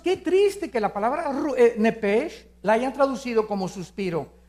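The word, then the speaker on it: נֶפֶשׁ: La palabra alma es nepesh, en el hebreo, apúntalo, nepesh. Se pronuncia nepej, porque la CH en hebreo es j, nepej, y la palabra espíritu es ruach, se escribe ruach.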